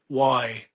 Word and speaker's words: Wolastoqey: WOLASTOQEY. So first I repeat the spelling, WOLASTOQEY. That's correct. And how do you pronounce it?